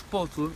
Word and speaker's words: pozo: Por exemplo, na palabra pozo, en vez de dizermos pozo no inicio, facemos puzo, puzo, puzo, puzo, xa nos fica a boca así fechada para pronunciarmos o fechado, e facemos puzo, pozo,